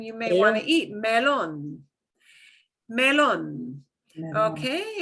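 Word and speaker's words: melón: Melon. Here's something you may want to eat, melon. Melon. Okay, and we've got to punch the last syllable there. We've got an accent mark, right?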